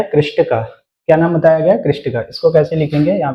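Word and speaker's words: Krishtakka: कृष्टिका।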